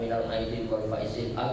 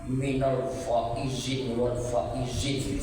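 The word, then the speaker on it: مِنَ الْعَائِدِينَ وَالْفَائِزِينَ: Tapi bacanya yang benar, karena ada pula sebagian bapak ibu saya dengar bacanya minal faizin wal faizin, apa itu? Yang betul lah bacanya, karena itu doa minal a'idin wal faizin.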